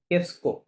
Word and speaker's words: qu'est-ce que: por qu'est-ce que কেসকো, নট কুয়ে, qu'est-ce কেসকো টু, qu'est-ce que qu'est-ce que tu fais টু ফে, dans la vie?